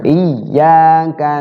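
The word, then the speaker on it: إِيَّاكَ: itu iya iya ya iyyaka na'budu Wa iyaka nastain Ayo iy Heeh jadi tasdid dibaca dobel hurufnya itu cara bacanya dimasukkan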